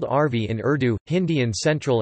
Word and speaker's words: Arvi: It is called arvi in Urdu, Hindi in central and north India, which is often mispronounced as arbi.